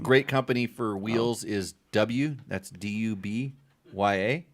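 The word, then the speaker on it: Dubya: By the way, rim. great company for wheels is W. That's D-U-B-Y-A. W. Wait, spell that again? D-U-B-Y-A. W. That's how they say W down south.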